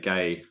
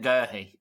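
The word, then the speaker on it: Guéhi: I think he was probably scared about being accused of being homophobic by saying gay. Quite possibly. But it's better than Gurhey. Well, it's the correct pronunciation.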